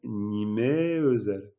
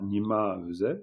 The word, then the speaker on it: nimé: Puis on prononce nimé. Nimé hein, on dit pas nima on dit pas vous diriez d'ailleurs dans la langue parlée nima qui eux.